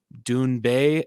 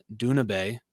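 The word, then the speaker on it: Doona Bae: Dune Bay as Duna Bay.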